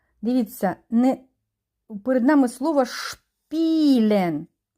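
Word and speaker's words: spielen: не перед нами слово шпілен с і п в цьому випадку ми не читаємо с а буде ш шпілен і довжене дає нам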